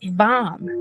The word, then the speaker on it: VAM: We're going to move on to the sound VAM. That's spelled V-A-M. Okay. And remember to pronounce the V, A, M, V, V, V as in victory.